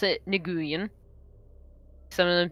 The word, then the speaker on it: Nguyen: Also, it's Nguyen. Let's add an H at the end. How you pronounce that surname. What? Nguyen. Nguyen? Mm-hmm. Well, I heard Gwen. Nope. Well, either way. I just listened to a Vietnamese man just say it to me.